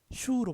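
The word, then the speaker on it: 畜: 가축축은 입성 발음이니까 슈로 발음되죠. 슈.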